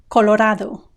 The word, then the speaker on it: Colorado: link below this video Colorado Colorado have you noticed the Spanish single a sound du du the tip of your tongue has to touch the area behind your top teeth ones the DU Colorado Colorado if you want